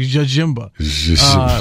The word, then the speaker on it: Jjemba: So it wasn't like Jimba, it was like Jajimba. Like wasn't like Djibouti where the D is silent, right? Yeah, no, like but you pronounce both J's if I remember correctly.